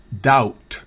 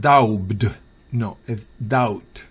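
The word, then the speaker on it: doubt: siguientes casos por ejemplo dout no es daugh out B es muda en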